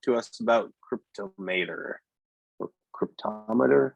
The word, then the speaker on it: Cryptomator: Kyle, do you want to talk to us about Cryptomator or Cryptometer? How do you say it? I guess that's my first question for you. Yeah, I typically call it Cryptomator. Cryptomator.